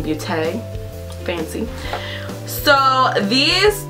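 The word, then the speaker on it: Beauté: There's a little accent on the E, so I guess it's Blinking Beaute.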